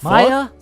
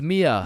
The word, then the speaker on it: Mia: Wait, what the Maya, is is Maya present? Uh, it's it's Mia. Wow, quite the name you got there. It's spelled kind of weird.